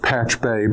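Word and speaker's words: Pachube: It was first named Patchube. Well, it's actually pronounced patchbay but spelled patch tube and was later acquired by log me in and renamed.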